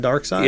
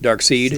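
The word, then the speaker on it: Darkseid: side okay all right as a kid you know how I pronounce Dark Side dark seed dark seed yeah I think a bunch of us did yeah well there there's a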